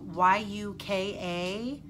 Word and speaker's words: Yuka: I think it's Yuka, Y-U-K-A. I don't think it would be Yucca. I think it would be pronounced Yuka.